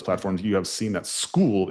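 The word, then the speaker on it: Skool: on a platform called school and all you guys who are inside those platforms you have seen that school is spelled funny right? S K O O L and so it is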